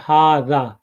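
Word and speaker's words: هذا: ये लिखा जाता है हा पे ज़बर और ज़ाल और ज़ाल के बाद अलिफ, और पढ़ा जाता है हाजा।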